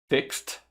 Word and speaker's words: fixed: Fixed. Cooked. Left. Ok? Pronto. A pronúncia foi um pouco exagerada, mas para você perceber bem o som do T, né?